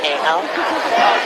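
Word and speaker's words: Kahel: Yes, it's uh K A H E L but uh pronounced as Kale.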